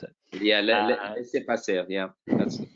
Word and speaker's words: laissez-passer: But there is definitely on the Surrogacy Professionals Board a little piece on laissez-passer, or however you pronounce it. Yeah, laissez-passer.